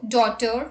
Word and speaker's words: daughter: GH is not pronounced when it comes after a vowel. Examples: thought, draught, through, thorough, borrow, daughter, light, might, sight, right, fight, wait, and wait.